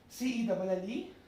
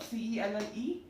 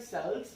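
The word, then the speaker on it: celle: So cell, C-E-L-L-E, then sir for masculine plural, C-E-U-X, and for feminine plural, C-E-L-L-E added with an S. Pronunciation will be same, cell. It won't be like cells, no. It will be cell.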